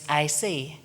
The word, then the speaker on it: IC: an integrated complexity is referred to as IC and it rhymes with icy a way of seeing